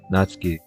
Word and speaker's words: Natsuki: it natsuki you know the su in japanese is the su's i mean the su the u is silent from the su so that's why it's just what i'm saying so so that's why i say like natsuki still feeling awkward i